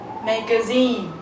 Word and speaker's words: magazine: is which is Zen so how should you read this word you should read it as Meine magazine okay so you raise your voice in the third syllable and of course when